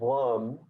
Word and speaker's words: Lam: of 3 twice, of the syllable Lam, which is a gentle movement of the lips, sort of a cross between a V and a W.